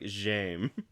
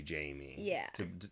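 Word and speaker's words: Jaime: it's like cuz also you don't pronounce the e at the end yeah cuz it is kind of weird to to say Jamie for being was like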